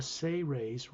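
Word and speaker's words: Seres: is known as the say ray's race it's spelled s-e-r-e-s in english but it's pronounced as if it was spelled s-a-y hyphen r-a-y-s say rays they are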